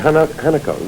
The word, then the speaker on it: Hanako: Hanako. Well, the Hawaiians say Hanako, the Japanese say Hanako, and it means flower.